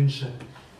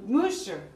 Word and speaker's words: Munch: Munch.